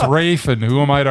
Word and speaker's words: Ralph: I don't know why I can't pronounce his name spelled Ralph because it's Ralph. Let's face fact. He tells us it's Rafe.